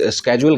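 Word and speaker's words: schedule: कुछ लोग शेड्यूल कहते हैं, कुछ स्केड्यूल कहते हैं, तो ये दोनों प्रोनाउंसिएशन ठीक है, इस बारे में ना सोचें।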